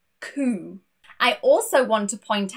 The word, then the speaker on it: coup: Two random words that have a silent P are receipt, no P, receipt, and also a coup.